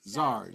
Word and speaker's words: SARS: Did you say SARS? SARS. SARS. SARS. Zars. Yes, SARS is the correct pronunciation.